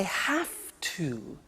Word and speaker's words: have to: I have to. Notice I don't say V, I say F.